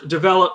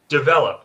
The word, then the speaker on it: develop: And develop. I'm not saying develop. It's just develop.